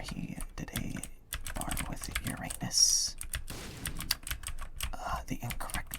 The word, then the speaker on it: Uranus: yes, it's pronounced Uranus. I know it's funnier the other way, but it is objectively incorrect to say it that way.